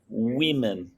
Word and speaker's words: women: woman women women okay imagine that the second letter is like um an i an e w e women that's okay excellent and